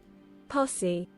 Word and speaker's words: posse: A posse? Posse.